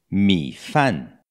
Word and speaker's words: 米饭: bem próxima palavra arroz me fã me fã primeira sílaba m e 3º tom me e segunda sílaba efe a eni quarto tom fã fã final.na boca abre